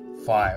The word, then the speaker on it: phi: that being this value called phi or fee depending on how you want to pronounce it now what i'm going